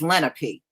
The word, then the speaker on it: Lenape: You know, I know a few of them, and they told me the word is Lenape. So if it's pronounced any other way, then they must not be aware of it either.